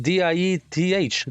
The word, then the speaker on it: Dieth: Yeah, we call it Dieth, is what we call it. Yeah. Diet. Yeah. Okay. I was thinking about diet, but it was like, no, it sounds like diet.